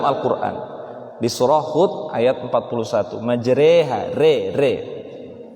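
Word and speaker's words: مجريها: disuruh hud ayat 41 majreha Re ya kan kalau dalam bahasa Indonesia itu ada reader ya patokannya adalah bagaimana kita menyebutkan e dalam remote remote majer bukan majreha ya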